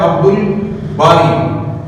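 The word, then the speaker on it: عبد الباري: हरू में से है तो बे कमरी का कमरी में अलिफ और लाम दोनों ही पढ़े जाते तो हमने पढ़ना है अब्दुल बारी अब्दुल इसके ऊपर जजम आ जाएगा मजूम हो जाएगा अब्दुल बारी इसमें अलिफ भी पढ़ा जाएगा और लाम भी पढ़ा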